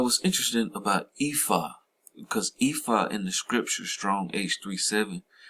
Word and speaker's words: Ephod: They say pronounced Ephod, right?